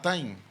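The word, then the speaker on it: τιμή: el numeral 5092 y se pronuncia igual que aquella famosa revista que creo que todavía sigue, que se llama Time.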